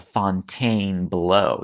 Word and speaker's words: Fontainebleau: I went across the street to the Fontaine below. Yes, that is how it should be pronounced.